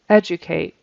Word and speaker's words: educate: to edate some critical educate educate so that D is a j sound educate educate and critical